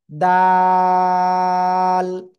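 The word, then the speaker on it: دال: জিহ্বার আগা ওই উপরে দুই দাঁতের গোড়ায় লাগান। লাগান লাগান। লাগিয়ে এক দুই তিন আলিফ টান হবে।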